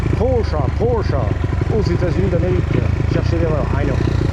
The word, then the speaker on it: Porsche: Pocha. aux États-Unis d'Amérique chercher l'erreur ça vient d'Allemagne mais ça se prononce chat avec un bon chat d' on